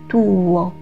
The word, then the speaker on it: tuo: 这里需要注意的是 tuo 是分开两个音节读的，发音 tuo。